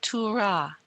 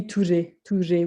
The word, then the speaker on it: Ture: Lola, I noticed that with the word Ture, T-U-R-E with an accent aigu, that I think you said Tura. Is that? No, it should be Ture with an E.